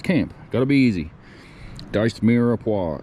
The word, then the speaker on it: mirepoix: Diced mirepoix. I think is how you pronounce that. I don't know. I'm not a smart man. But I know that's not Mirapoix.